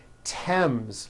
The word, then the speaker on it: Thames: Although these next words and names are spelled with a TH, they are pronounced as if they were spelled with a normal T, like that. And these words are Thomas, Thompson, Teresa, Thailand, Thames, like the river, Esther, and thyme, which is a spice.